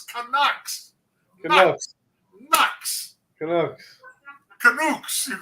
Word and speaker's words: Canucks: Canucks. It's Canucks.